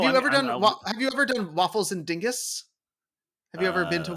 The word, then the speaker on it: Dinges: ever done have you ever done waffles and Dingus have you ever been to waffles and ding oh oh is that how it's pronounced I you know I I've always mispronounced